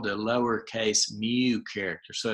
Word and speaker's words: mu: a lower case it's called the lower case Mew character so it's a and it's pronounced Emme WMU but it kind of looks